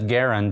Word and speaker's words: Garand: c garand and there is strong evidence that garend is how he pronounced his last name it's a classic potato